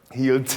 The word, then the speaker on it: hielt: You know, in most cases, there are exceptions, but in the great majority of cases, you almost have to make “t” into “ts”. “hielt[s] ich” – then it sounds like “t” to everyone else, but it’s much more concrete.